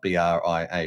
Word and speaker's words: Bria: Uh I always call it Brier because it's spelled B R I A, right?